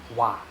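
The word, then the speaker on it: は: So over here you can see this particle wa is not written as wa but written as ha. But it's pronounced as wa.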